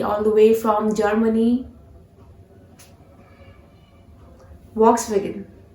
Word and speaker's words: Volkswagen: Volkswagen. No guys, you were wrong. This is not Volkswagen. You have to pronounce this brand, this name as Volkswagen. Volkswagen. Okay, how? Repeat. Volkswagen.